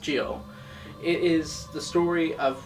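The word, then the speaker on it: Gyo: juni's more renowned stories Gil or pronounced Gio it is the story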